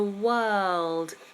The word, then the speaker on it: world: we live in the world so we have Word World the only difference is the dark l in world so we have the